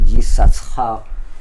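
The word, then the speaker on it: יששכר: Yisachar, the one that the tribe that called donkey, Yisachar, we write his name like this, with 2 shin, that even we pronounce only one of them, that from the word shesh, what it means, 6.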